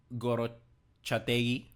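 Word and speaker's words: Gorrotxategi: Álvaro Odriozola, then Igor Zubeldia, Chaleta Char, Aigen Muñoz, Goro Chategui, that's how you say his name, Barrenechea, Pablo Marin, Turrientes, Gonzalo Guedes, and Mikel Oyarzabal on top.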